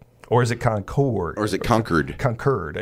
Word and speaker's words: Concord: Gallagher, whose preferred pronunciation resembles the word conquered, ran into some opposition